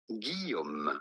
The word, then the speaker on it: Guillaume: In French, in France, we would say Guillaume. Guillaume. Guillaume. Very good. Okay, Guillaume.